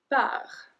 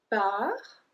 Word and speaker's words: pars: We don't pronounce the S at the end, we don't pronounce the T at the end.